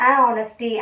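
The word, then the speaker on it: honest: ஹானஸ்டி இஸ் த பெஸ்ட் policy அப்படி தான் நம்ம சொல்லுமே தவிர ஆனஸ்டி, ஆனஸ்டி அப்படிலாம் சொல்லக்கூடாது. இதே வந்து இதுக்கு முன்னாடி நம்ம ஒரு ஆர்டிக்கல் யூஸ் பண்ணுவோம். என்ன ஆர்டிக்கல் அது? அண்ட் ஹெச் சைலண்ட்னு சொல்லியிருக்கேன், ஆனஸ்ட்னு ப்ரொனவுன்ஸ் ஆகும்னு சொல்லியிருக்கேன். ஸோ ஆனஸ்ட் அண்ட் ஆனஸ்டி ரெண்டுக்கும் வித்தியாசம் இருக்குது.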